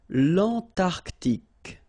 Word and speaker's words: Antarctique: Remember, Q-U-E here, it's K. Okay, so tic. L'Antarctique, l'Antarctique.